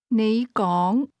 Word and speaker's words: 你講: Those words are both pronounced with a rising tone, but you begins at a low level and speak at a higher level. Say again, You speak. 你講 Try to say, I speak.